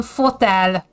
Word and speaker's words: fotel: F, like in fotel. So, fotel is an armchair. It's almost like hotel, but it's fotel.